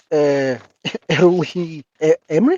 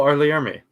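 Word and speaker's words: R. Lee Ermey: Well, these guys are just kind of standing around waiting, and he's he's played by Early Emery. Is that how you say his name? Oh, Arlie Army. Yeah.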